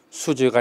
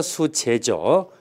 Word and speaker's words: 수재: 일상에서는 많이 쓰고 있습니다만 알선 수죄 뭐 이게 여러분들이 이제 형법에서 공부하는 문제일 것 같긴 합니다만 어제는 알선 수죄가 아니라 수재죠. 재물재자 수죄라고 제가 발음을 잘못 알선수재이죠.